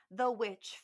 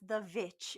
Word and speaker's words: The VVitch: my all-time favorite films, The Witch from 2015. Also known as The Vitch, if you are pronouncing it that way, which is not correct, but that's how I like to say it sometimes. That's how it feels in my heart, frankly.